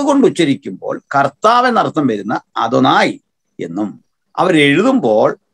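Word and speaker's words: אֲדֹנָי: അദോനായ് നമ്മൾ ഇംഗ്ലീഷ് ഉപയോഗിക്കുന്ന അഡോണായ് എന്ന് പറയാറുണ്ട്, പ്രൊനൗൺസിയേഷൻ അദോനായ് എന്നാണ്, അദോനായ്.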